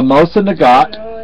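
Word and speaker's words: Mosin-Nagant: We have a Mosa Nagat. It is the N, from what my understanding, is not pronounced.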